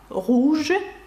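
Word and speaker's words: rouge: ви знаєте як муленруж французькою це руж і ви бачите гуж що означає червоне червоний млин це французькою мовою якщо перекласти на українську руж Ну і вам зрозуміліше чому не читається наприкінці тому що це таке правило Ну і звук у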